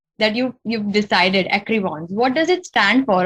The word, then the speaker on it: Écrivons: And I've been pronouncing it Écrivons. I mean, I should have said it in that French, Écrivons. I should have said it.